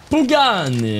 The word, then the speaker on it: Pagani: Do you like Pagani? I love Pagani. Pagani! You guys gotta say it like that, it's necessary.